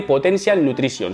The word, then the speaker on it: Potential Nutrition: Ustedes saben que trabajo con esta marca que se escribe Potential Nutrition, pero se dice Potential Nutrition, si no las profesoras de inglés se enfadan.